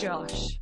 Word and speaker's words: Gosh: going to their heads it's pronounced Josh quote strapline of my